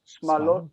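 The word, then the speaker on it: שמלות: Smalot is how you say dresses. Simla is a dress, and smalot is dresses. I never knew why that was smalot. I only knew you said smallot.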